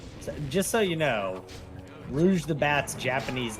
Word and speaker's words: Rouge: I I indeed said- was a rogue. Okay. You know that chick from Sonic the Bat? How do you pronounce her name? Rouge the Bat. Yeah, so it is Rouge. It's Rouge.